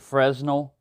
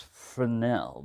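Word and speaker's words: Fresnel: there I've always said Fresno cuz that's the way it's spelled but it's frenel the S is silent and if you push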